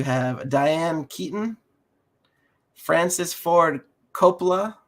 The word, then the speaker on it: Coppola: You have Diane Keaton, Francis Ford Coppola. I'm not sure I said his last name right. Yeah, that's how you say it.